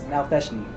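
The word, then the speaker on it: Nalfeshnee: Upon fighting a Nalfishni, hate saying this fucking monster. I've heard you pronounce it a million different Yeah, ways. no, I actually looked it up yesterday. It's Nalfishni. Feshni?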